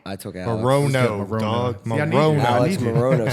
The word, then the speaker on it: Morono: I took 10 means on this, but Alex Morano. I took Alex. Morono, dog.